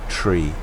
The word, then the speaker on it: three: seven for three thousand and you pronounce three as tree three thousand there's a